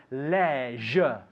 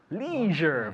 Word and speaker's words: leisure: different pronunciations here yeah in England we say Leisure Leisure very very different Leisure